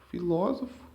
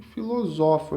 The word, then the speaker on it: filósofo: Filósofo e filosofo, né? Só aí o que diferencia aí é o acento, mas aí a escrita é igual, porém com acento torna a pronúncia aqui, ó, pronúncia diferente.